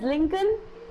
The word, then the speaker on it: Lincoln: I think you are thinking that it is Lincoln. Why madam is pronouncing as Lincoln? I'll tell you why we should pronounce as Lincoln.